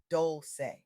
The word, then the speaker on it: Dolce: I'm your host, Dolce, pronounced doulce, like sweet softness whispered in French.